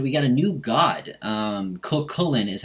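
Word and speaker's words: Cú Chulainn: this patch that we got a new god Coquelin is how you pronounce it he's the hound of ulster he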